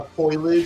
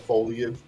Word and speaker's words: foliage: librar or foliage uh a foilage instead of foliage.